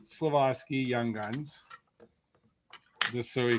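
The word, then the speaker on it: Slafkovský: It's not Slafkovsky. How do you say his name properly? Slafkovsky.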